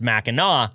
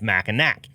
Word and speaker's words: Mackinac: I am avoiding the question of why it's pronounced ma instead of macak I would fall into the category who thought it was pronounced maak at first glance long story short the Island